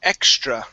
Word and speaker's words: extra: go to the word extra right here her extra confidence extra confidence now with the tr you want to pronounce that like a ch okay so the t